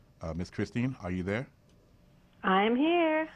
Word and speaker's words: Kristin: It's pronounced KRISTIN, so you were right.